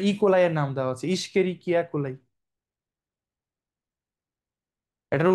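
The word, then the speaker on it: Escherichia coli: ইশকেরিকিয়া কোলাই। এটার উচ্চারণ কি করো তোমরা?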